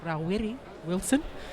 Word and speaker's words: Rawiri Wilson: Well, the correct pronunciation of his name is Rawiri Wilson, in case you wanted to know.